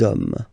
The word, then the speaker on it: hommes: You don't pronounce it, so you get des hommes.